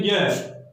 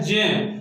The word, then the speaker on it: ज्ञ: हम बोलते हैं ज्ञ, लेकिन वास्तविक रूप में इसका उच्चारण ज्ञ के अनुसार नहीं होता है, इसका उच्चारण क्या होता है, जय। इसका उच्चारण हम करते हैं जय, शुद्ध होता है जय।